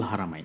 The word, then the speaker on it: Al Haramain: হ্যাঁ, আল হারমাইন। হারামাইন হারামাইন, রাইট। আল হারামাইন মানে হারাম বলতে যেন না হয়, এই জন্য বোধহয় বাঙালি ভুল উচ্চারণ করে, রাইট?